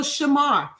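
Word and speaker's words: שמר: So, Shamar S H A M A R S H A M A R The pronunciation is S H A hyphen M A HR.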